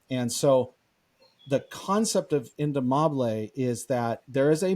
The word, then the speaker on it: indomable: yeah it's it's a it's a Spanish word it's indomable that's how you say yeah and this is